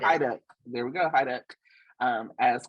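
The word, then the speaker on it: Haiduk: General Hospital, Stacey, I'm so sorry I can't pronounce her last name, but Stacey Hyduck. Hyduck, there we go, Hyduck, as Kristen Demare from Days, Melissa Ordway as Abby Newman.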